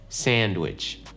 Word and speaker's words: sandwich: Не то чтобы там нету этой буквы D, она там есть, но это очень, она очень легкая. Sandwich. Я не говорю sandwich, да?